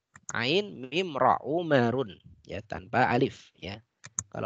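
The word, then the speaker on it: عمر: Ya, kalau Umar bagaimana menulisnya? Umar ya, Umar tanpa alif ya, Ain Mim Ra Umarun ya, tanpa alif ya.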